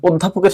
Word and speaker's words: অধ্যাপক: সেখানে হসন্ত দিতে হবে তাহলে অধ্যাপকের সঠিক উচ্চারণ হচ্ছে অধ্যাপক দেখো একইভাবে শব্দের শুরুতে যদি